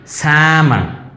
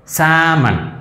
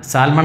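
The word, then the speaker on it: salmon: പക്ഷേ അതിന് നമ്മൾ ഇതേ ഉച്ചാരണ രീതിയാണ്, എല്ല് സൈലൻ്റാണ്. അപ്പോൾ എങ്ങനെ പറയും, സാമൺ, സാമൺ, സാൽമൺ അല്ല, സാമൺ, ആൽമണ്ട് അല്ല, ആമണ്ട്, സാൽമൺ അല്ല, സാമൺ.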